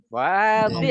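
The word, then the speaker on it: واضح: Wadih, enggak pakai panjang dotnya.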